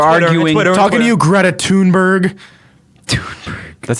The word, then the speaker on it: Greta Thunberg: Talking to you, Greta Thunberg. That's how you pronounce it, technically.